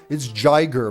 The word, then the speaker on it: Giger: It's Giger, man. Don't teach me how to pronounce Swiss names, all right?